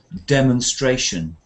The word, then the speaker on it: demonstration: it, and that was demonstration, because demonstrate as a verb has a completely different sound to demon. You know, the demons, the devil, and it changes to demonstration.